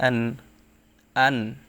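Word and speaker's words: أَنْعَمْتَ: জাহির বা স্পষ্ট করা নুন সাকিনের পর ইজহারের হরফ আইন আসছে তাই এখানে স্পষ্ট করে পড়তে হবে এখানে কোন প্রকার গুন্না করা যাবে না এখন আমরা যদি এখানে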